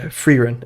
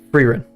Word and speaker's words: Frieren: I heard it's really Freerun. Okay, Freerun. I hope that's correct.